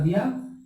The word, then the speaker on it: the: इस वक्त क्या करेंगे, ये लिखाएगा द लेकिन आपको प्रोनाउंस करना है दी, ये दी एलिफेंट होगा और ये द बॉय होगा, ठीक है।